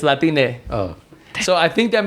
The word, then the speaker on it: Latine: It's Latine.